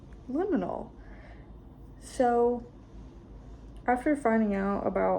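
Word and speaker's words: liminal: Didn't know how to pronounce liinal for the longest time. But I've got it now. Liinal.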